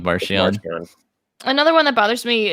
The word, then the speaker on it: Marchion: By the way, the proper pronunciation is apparently Marchion. Marchion. We're sticking with Marchion.